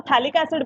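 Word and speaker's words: phthalic acid: अब थोड़ा सा कॉमन नेम देख लो, COH, COH, इसको हम थैलिक एसिड बोलते हैं, थैलिक एसिड, PHTHALA, इसमें P साइलेंट है, PH, थैलिक एसिड नाम है इसको।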